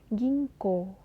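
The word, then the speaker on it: 銀行: toiret toire toire Bang gingko gingko Nah huruf N ketemu dan K juga bacanya Eng ya teman-teman Apotek yakyok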